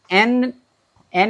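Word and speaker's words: 円: এখন এটার প্রনাউন্সিয়েশনটা এন এর মতো হওয়ার কথা, কিন্তু এটা সাধারণত বলার ক্ষেত্রে ইয়েন বলে সম্বোধন করে, ঠিক আছে।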